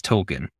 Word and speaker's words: Tolkien: I learned early on that it's Token, and that's just how I say it.